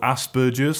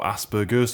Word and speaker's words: Asperger's: Personally, I've grew up with something called Asperger's or Asperger's, depending on how you pronounce it, and essentially it's a